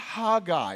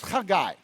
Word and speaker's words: Haggai: It's not Haggai, it's Haggai. Now, don't spit on your neighbor. That's not kind. The point is that there's a guttural sound.